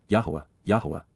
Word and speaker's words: Yahowah: the gestation of the whore's child, which, Asher, YAHOWAH, the proper pronunciation of the name of Eloah, God as